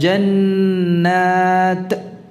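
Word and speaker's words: جنات: Jadi jangan membacanya dengan qalqalah. Jannat. Ini seakan-akan ya qalqalah. Bukan demikian.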